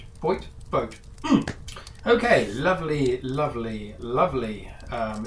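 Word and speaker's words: Vogt: van vote vote okay someone corrected my pronunciation I've already forgotten it I think it's vote okay lovely lovely lovely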